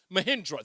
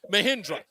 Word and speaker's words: Mahindra: I pronounced it wrong. Thank you, Craig. Mahindra, thank you. Mahindra.